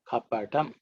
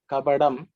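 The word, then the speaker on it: कपटम्: The next word is ka pa ta kapatam. Kapatam. Because Tamilians tend to pronounce it as kapadam. Da is used, but in Sanskrit it is ta.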